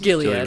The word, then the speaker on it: Gilead: Gilead. Gilead. Hard G. You know I'm not going to correct you.